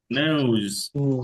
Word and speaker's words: nose: নোজ। No. তাহলে আমরা নোজ বলি, নোজ, এই নোজ না, নোজ, এটা জেড সাউন্ড, নোজ।